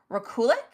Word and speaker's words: Rekulak: read Jason and I looked up how to pronounce his last name and it's Raulic.